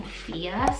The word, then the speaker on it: Fia: also have the name fia so mia but with an f i love the meaning